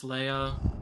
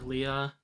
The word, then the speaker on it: Leia: skills carrie fisher plays princess leia or leah they pronounce it both ways in this movie i think she's gorgeous